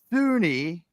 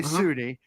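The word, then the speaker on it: SUNY: that is here's here's the here's the deal Sunni as we we pronounce it right so we say Sunni uh Sunni State University of New York has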